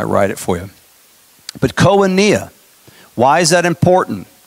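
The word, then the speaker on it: koinonia: Oh n IA ki n o n IA Konya Konya 28:42 Konya KO i n o n I I got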